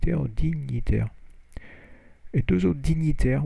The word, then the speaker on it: dignitaires: dignitaire, et deux autres dignitaires, where you don't pronounce the G, et deux autres dignitaires, était brûlé vif à Paris.